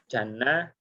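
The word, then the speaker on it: جَنَّة: Ya, kiai saya biasanya mencontohkan antara jannah, ya, kemudian jina dan juna. ya, jana surga, jina jin, juna itu perisai, ya. Jadi beda harokat itu akan menunjukkan juga beda makna.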